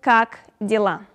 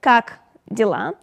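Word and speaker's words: как дела: means hello hi hey pre vet then goes kak dilla uh it pronounced like kak dilla it means how you doing what's up how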